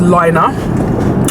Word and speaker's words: Lina: new to my channel my name is Lina and that's how you pronounce my name yes I started this